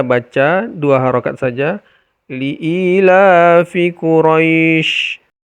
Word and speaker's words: Quraisy: dua harakat saja liilafi Quraisy cara bacanya Quraisy jadi rynya itu lembut kemudian panjangnya boleh dua